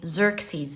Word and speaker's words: Xerxes: The way his name is pronounced is actually Xerxes, and he wasn't Egyptian.